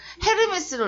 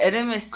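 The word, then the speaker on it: Hermès: 그 걔네는 H가 다 무음이잖아요. 그래서 뭐 헤르메스를 원래 에르메스 호텔을 때 햄버거를 엠버가 막 그러더라고.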